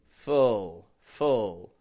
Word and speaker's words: full: But for now, keep in mind, full, no lip movement, fool. Has a bit of a lip movement.